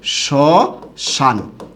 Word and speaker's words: শ্মশান: যেহেতু প্রথম বর্ণে মফলা আছে তাহলে এটা কি হবে? এটা হবে গিয়ে চন্দ্রবিন্দু। তখন এটার উচ্চারণটা কি হবে? শ্মশান।